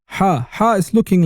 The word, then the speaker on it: Ḥā: You pronounce it like hot, but because the coffee was so hot that you had to breathe while saying hot, hot, hot, you say ha, ha, ha, ha.